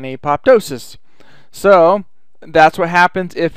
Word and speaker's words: apoptosis: and the cell undergoes apoptosis or aptois or however you like to say that word um I've heard it say I've heard it pronounced several different ways I like saying apoptosis so that's what happens